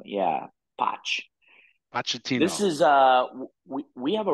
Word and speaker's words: Pochettino: How do you pronounce Mauricio it? Pochettino? Pochettino. Yeah, Poch. Pochettino.